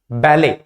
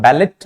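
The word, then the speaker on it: ballet: हम बोलते हैं बैले बैले लेकिन इसके स्पेलिंग के लास्ट में टी आ जाता है तो इससे कंफ्यूज नहीं होना है इसको हम पढ़ते हैं बैले ही पढ़ेंगे इसको हम बैलेट नहीं पढ़ेंगे इसको हम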